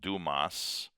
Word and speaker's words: Dumas: Um the phrase as it's used in the musical with the name Duma before it which is spelled Dumas but is pronounced Duma.